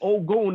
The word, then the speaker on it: Ogun: And they fucking said Ogun, and y'all know his name. For those that don't know, they spelled O-G-U-N. But on the sticker, it was like Ogun, and then it said pronounced Ogun.